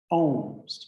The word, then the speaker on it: Om: I'm going to tune in with 3 ohms, just simple ohms, right? O-M. It really is spelled A-U-M.